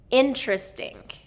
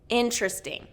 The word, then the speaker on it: interesting: In-tris-ting. In-tris-ting. So in-tris-ting is a 3-syllable word and the stress is on the first syllable, in-tris-ting.